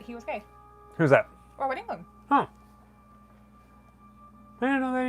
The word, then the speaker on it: Robert Englund: Robert Englund. See, I always say Robert England, but then I'm thinking I got his first name wrong because I'm thinking it's like Bob or something.